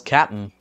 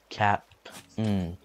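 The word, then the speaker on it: Kapp'n: His name was spelled with a K-A-P-P, little hyphen and then an N. So that spells Cap'n.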